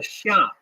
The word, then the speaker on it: Xia: Chinese history which is called the Shia uh that's spelled xia a in the in the modern Western romanization system opinion system of of spelling Chinese words the Sha uh the